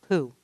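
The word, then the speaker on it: P'u: describes another taoist concept that of who now unlike our buddy winnie the pooh this one is spelled p apostrophe u and what it means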